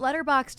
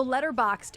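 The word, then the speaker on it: Letterboxd: so that's uh so letter boxed it's basically it's spelled letter boxed but there's no E before the D at the end so letter box d letter boxed um it's an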